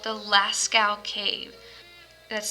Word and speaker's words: Lascaux: cave is called the lascaux cave that's spelled l-a-s-c-a-u-x lascal cave it looks like it says laskox but it's lascaux and so that cave